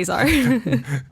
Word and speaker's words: Azar: I mean, if he's speaking Arabic, it's pronounced differently, but when we're speaking English, we say Azar.